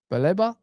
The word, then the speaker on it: Baleba: Baleba, that's how you say his name.